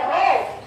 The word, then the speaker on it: rho: Kalau tekanan pada zat cair karena dipengaruhi oleh percepatan gravitasi, kedalaman, dan massa jenis, maka didapatkan P sama dengan ini bacanya Rho.